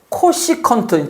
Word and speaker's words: 코시컨트: 그리고 요 사인의 역수는 C, S, C, 세타라고 쓰고 코시컨트. 그러니까 요 앞에 CO가 붙은 거예요.